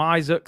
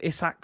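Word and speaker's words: Isak: about your boy issac i was calling him isaac somebody told me it's issac so i'm gonna try and get the pronunciation right as i said before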